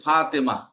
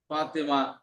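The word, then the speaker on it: فاطمة: হা হয়ে যায়, যেমন ফাতেমা। মূলত শব্দটা কি? ফাতিমাতু, ফাতিমাতু, ফাতিমা। বুঝতে পারছেন? ফাতিমাতু শেষে তা আছে, কিন্তু তারা উচ্চারণ হয় না, হা হয়ে যায়।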